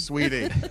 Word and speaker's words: Saweetie: Pronounced Saweetie. Sweetie.